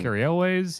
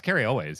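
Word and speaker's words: Cary Elwes: Carrie Elways. Ellen Hunt. Is it Carrie Elways? Is that how you say his name? I thought it was like Carrie Elway. No, it's Carrie Elways.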